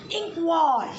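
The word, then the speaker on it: Nqong: So we can pronounce it as inkwall. The pronunciation it is given there.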